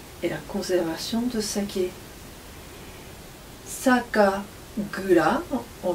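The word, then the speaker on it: 酒蔵: Sakagura, on prononce comme ça, Sakagura signifie la brasserie où on élabore et conserve le saké.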